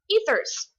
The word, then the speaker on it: ether: looks like easter but you do not make the e a long e like that it's a short e so this these are ether bunnies this is an